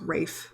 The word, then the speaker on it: Ralph: Yeah, so it's Ralph without the L, so it's Rafe Fiennes.